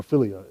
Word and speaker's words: philia: The philia love, or philia as it's supposed to be pronounced, that's the platonic or brotherly love you share with a friend, sibling, cousin.